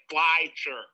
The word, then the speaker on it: Flesher: flexible it's pleasure flasher flight like like fly sure oh flash sure uh like but like um like fly like like f-l-y s-h-e-r okay sure last year